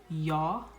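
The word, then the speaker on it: ja: which is pretty simple yes is yah and no is nay so yah oke nay oke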